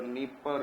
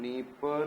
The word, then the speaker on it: Dnieper: And here you can be able to see Don River, Dnieper River, Dniester, and then Danube. Don, Dnieper, Dniester, सब में DD है, and D is silent.